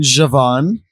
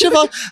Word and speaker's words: Siobhan: I say, oh, like I'm hanging out with Siobhan, he goes, you mean Javon?